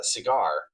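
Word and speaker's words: Segar: you pronounce his name, he would draw a little cigar on top of his uh signature so you would know that that's how you pronounced it.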